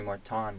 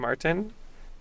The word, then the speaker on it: Marton: They call me Marton now. They would always call him Martin. And get this, he would never correct them. Nope. He would never say anything about like, oh, you're not pronouncing my name correctly, or like, nothing. Yeah, it's just my name has an O, not an I, but say it as you will.